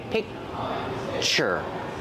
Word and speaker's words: picture: it's a little different when I say picture I have the CC sound but I don't release it so it's a stop sound I stop the air I say piure I make the position